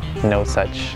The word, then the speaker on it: Nosaj: saw my name backwards try to pronounce the name it's you know no and it just made me think of like no such like no such thing you know mosart